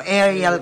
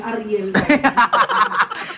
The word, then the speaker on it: Ariel: Ivan Andrew Ariel Ariel Ewan ko ba't ganun yung pronunciation nila sa pangalan ko arial kasi yun kasi ng babae yung picture mo pero kung lalaki yun Ariel Ariel yun nagiging arial siya kasi ay babae to so Ariel yung basa nila Pero